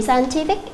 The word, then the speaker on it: scientific: Ở đây chúng ta sẽ chọn đáp án, đó là đáp án A, là bởi vì scientific cho âm sẽ rơi vào âm thứ 3.